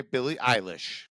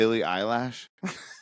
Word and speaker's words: Billie Eilish: oh, I'm sorry, Billie Eilish. I'll remember that way. The next time I am talking to someone, I won't sound like an idiot What'd you and say, Rex? mispronounce it. Billie Eyelash?